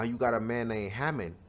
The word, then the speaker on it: Haman: This Ammon right here is the same man, which is named Haman, right? This is just how you say his name in the Greek.